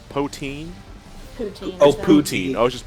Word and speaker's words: poutine: as how to pronounce Akron oh it's a pronounced poteen Oh pootie I was just pootie to see